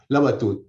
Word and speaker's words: Labatut: empezar por pronunciar bien su nombre como lo pronuncia usted benjamín labatut labatut muy bien muy bien bueno he encantado de